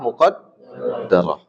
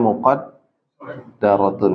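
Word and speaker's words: مقدرة: rofaknya itu dengan dhammah muqaddarah. Kemudian apa? Nasabnya fathah muqaddarah ya. Ini harus kita bedakan ya. Ini dhammahnya muqaddarah. Ini bacanya muqaddaratun ya. Muqaddarah ya.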